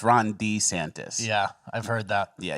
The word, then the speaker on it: DeSantis: the next two years wow so you think Ron DeSantis can handle that or I'm sorry Ron D santis it's he doesn't like when he pronounced it wrong it's Ron D santis yeah I've heard that yeah he doesn't like